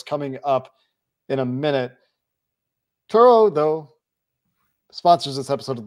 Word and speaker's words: Turo: Turo, though, sponsors this episode of the Locked On Bengals podcast. It's pronounced Taro.